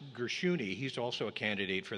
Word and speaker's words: Gershuni: Now, there was also David, it's pronounced Gershuni.